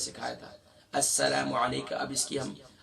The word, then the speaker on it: السلام: ہم پڑھتے ہیں الصلا، الصلا نہیں ہے، السلام، لام الف زبر لا، نہ کہ لام الف زبر لا.